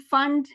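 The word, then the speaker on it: Pfund: उससे पहले वाला सेट ऑफ लाइंस ये लाइमन सीरीज है, Lyman Balmer पाश्चन bracket P silent फंड और हमफ्री सीरीज भी होता है जो कि एनसीईआरटी में नहीं है।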